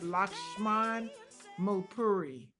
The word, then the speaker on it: Lakshman Mulpuri: I'm going to let him pronounce his name because I don't want to mess it up. Lakshman Mulpuri.